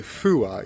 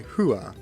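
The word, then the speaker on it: ふ: You can sort of hear the F, but when you say huah, it's you can sort of hear the F, but you don't say fua, you say huah, I believe.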